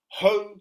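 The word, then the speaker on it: Hō: Ho like the garden implement hoe.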